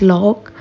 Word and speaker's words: loch: the tourist than you in Scottish GIC language the lakes are pronounced as log these Lakes are mainly